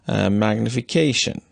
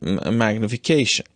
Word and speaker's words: magnification: The word magnification will not have a larger stress on the fourth syllable as long as you do not break the sentence into two parts and leave this word at the end of a phrase.